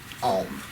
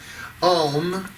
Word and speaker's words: Om: Om, really spelled A-U-M, but Om is O-M is how people think of it, is the universal sound because it goes supposedly from the, depending on how you say it, the largest mouth opening to the smallest.